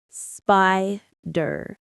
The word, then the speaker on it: spider: The stress is on the first syllable, spy. Say it with me, spider. It's like sky, but with a p and then durr.